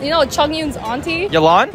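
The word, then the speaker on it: Yelan: you know chongyun's Auntie yilon not yolan whoa not your lot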